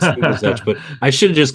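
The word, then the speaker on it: Lubizec: If I had a chance to retitle that book, I would, because no one knows how to pronounce the that last word. It's Liebezek, but I should have just called it the Commandant and left it at that.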